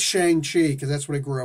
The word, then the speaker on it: Shang-Chi: We always used to always call him Shang-Chi. Everybody, including the creators, originally called him Shang-Chi. And I was like, well, the proper pronunciation, if you use the appropriate Mandarin, would actually be Shang-Chi.